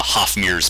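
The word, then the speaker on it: Hafmir: it down right now it's h-a-f-m-i-r yeah it's like always has been it's always has been it's like david hasselhoff yes i love it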